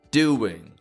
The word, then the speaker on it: doing: W sounds that aren't always spelled, but we do have to move the lips to make a W sound to pronounce them. Words like hour, doing, or the difference between the words flower and flower.